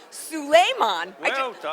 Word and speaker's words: Souleiman: modern salon tv i am here with eugene suleiman i just found out that that's how he pronounces his name we're backstage at peter psalm